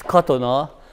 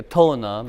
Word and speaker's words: Katona: euro cotton ah yeah in Hungarian the accent is always on the first syllable so it's cotton ah but I introduce myself in America Katonah because they'll done they don't understand here this way I'm from